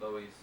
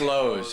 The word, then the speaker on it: Loews: No, but it's spelled Loews, isn't it? Loews. So how's it Loews? Yeah, nah, well, that's a bad it's Lowe's. It's Lowe's. Lowe's.